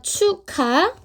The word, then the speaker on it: 축하해: 축약 어 생일 축하해 축 축하해 발음을 하게 되니 어떻게 되냐면 카가 됩니다 추카 그러면요 키 키은 어디서